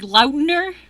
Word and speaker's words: Lautner: He pronounces it like Lautner. That's how he pronounces his own.